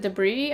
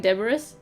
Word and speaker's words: debris: that I see that I remember mispronouncing horribly like a few years ago like like I like what was it debris I would say like deburous because that's like how I read it and then I realized